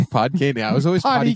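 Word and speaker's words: Podkayne: Did you say Potty Cane? Yeah, that's how I remember pronouncing it as a kid. Oh, that's adorable. That's not how you say it, but how do you say it then? Pod Cane.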